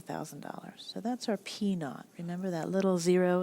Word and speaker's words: P naught: our original principle the amount we're investing is a thousand dollars so that's our P naught remember that little zero it's pronounced not and it means original our rate